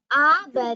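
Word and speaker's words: आभरणम्: Abharanam. Yes. Jewel. Very good. In this, you should pronounce the bhakara with more breath.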